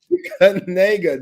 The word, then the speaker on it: Kanega: Kanega. Just we're putting an AY in that shit. Just Nega. That's it. That boy's name is spelled Knigga. Yeah, man. We pronounce it Kanega. Kanega, absolutely.